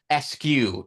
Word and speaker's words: Squeskew: So it's pronounced like the letters SQ, and that's part of his wife's email address.